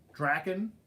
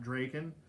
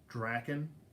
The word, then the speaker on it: Drakken: we got was it Drakken is the proper pronunciation not Draken you know a lot of people say Dracon but it actually is Drakken because you would say dragon not Dracon you know when you're saying dragon you once a great kid